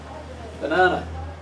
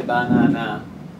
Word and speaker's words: banana: Banana. We don't say banana unless we're a robot or a silly answering machine. The strong syllable is the second one.